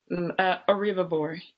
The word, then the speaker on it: Oribhabor: And how do you pronounce your last name? Oribhabor. Oribhabor, yes.